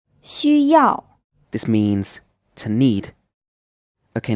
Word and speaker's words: 需要: 熊猫 Whenever the X in pinyin is followed by a U, the U is pronounced as the 2nd type of U sound, which I talked about, like the U in French. So it's U, not U.